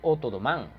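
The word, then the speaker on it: O'Donovan: O sea, ambos van a asaltar lo que es un cuartel en Otodomán. Bueno, así se pronuncia.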